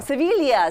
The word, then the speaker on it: Sevilla: Did I butcher the Italian No, title? you were very close. Sevilla. Sevilla. Yeah, Okay, yeah, I don't know that I ever heard it pronounced that way.